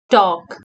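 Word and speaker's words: talk: के स्पीक उड़ा गर्नु टॉक टी ए एल के टॉक इस्मा पनी एल साइलेंट ह टी ए एल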